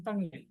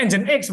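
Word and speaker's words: nginx: kayak engine X ngin ng engine X kan nyebutnya apa ini en X kan satunya apa aja nging bacanya engine X bukan ng ini dua web server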